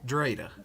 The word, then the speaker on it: Dritta: Drita, is that how you say it? Dri. Is it You Drita? can call me. Yeah. Drita.